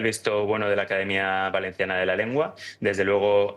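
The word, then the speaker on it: València: académicos de la lengua valenciana, que es justamente que el acento pueda ser también el acento cerrado, que es fonéticamente lo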